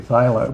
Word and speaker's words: phthalo: brown and blue particularly Pho blue and that's spelled p h t a l o uh guys a very